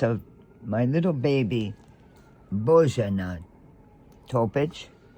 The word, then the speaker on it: Topic: my little baby, Bojana Topic. T-O-P-I-C, the H is silent.